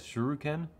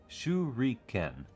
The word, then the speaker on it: shuriken: the way everybody says shuruken shuriken is how it is actually pronounced look it up japanese is all phonetic um let's go with